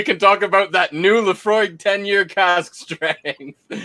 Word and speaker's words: Laphroaig: talk about that new laphroaig 10-year cask strength it's it's pronounced pronounced the frog the the frog the frog